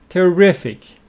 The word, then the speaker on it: terrific: Terrible, which means very bad, and opposite of that, terrific with the stress on the second syllable.